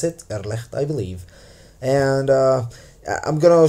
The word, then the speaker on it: Irrlicht: Good day, fellow programmers and users of the Irrlicht game engine, and yes, that's how you pronounce it, Irrlicht, I believe.